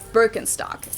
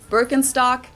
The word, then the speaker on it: Birkenstock: the world nowadays and it's natural that people pronounce it with their native accent so English speakers usually say burkenstock in German we say bstock Birkenstock bstock which literally translates to Birch stick the